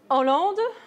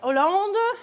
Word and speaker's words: Hollande: Hollande. And? Nice final stress. He's not Sarkozy or even Sarkozy. He is merci Sarkozy. Okay, so French, the stress is always at the end. Yes, Hollande, Sarkozy.